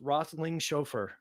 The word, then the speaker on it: Roethlingshoefer: my guest justin i'm gonna make sure i pronounce this wrestling chauffeur right so you got it right yeah thank